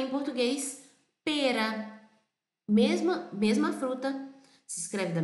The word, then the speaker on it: pera: Verdinha, com formato assim, que a gente chama em italiano e em português pera. Mesma fruta, se escreve da mesma forma, P-E-R-A.